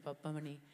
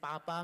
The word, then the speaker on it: Pappamani: And also when you get like a pronunciation wrong, like 8 times, like Mahalakshmi Pappamani, it takes you a while. Now I can say it really well, Mahalakshmi Pappamani. But in the beginning, I was saying Papa Mani and all sorts of things.